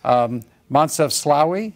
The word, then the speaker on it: Moncef Slaoui: because some of them are not easy to pronounce. Moncef Slaoui, is that correct?